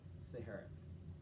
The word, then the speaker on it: Siharath: yeah okay okay so just like the that's my actually that was my nickname growing up i was because it sounded just like the okay so that's how you say my name properly sahara and i am from